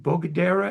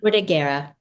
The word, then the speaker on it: Bordighera: pronounce it correctly because I always mispronounce it. Bogadera, is it called? Bordighera.